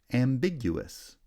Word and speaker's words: ambiguous: on the second syllable ambiguous has secondary stress on the first syllable primary stress on the second syllable ambiguity right when the